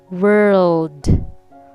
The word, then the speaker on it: world: me text all right world world notice r first then l and the world world world